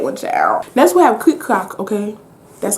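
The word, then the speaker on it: Krik? Krak!: Next we have Creek Crack, okay? That's how you say it. Creek Crack.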